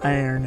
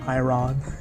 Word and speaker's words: iron: actually teaches you that it's called iron and not I wrong that's like one example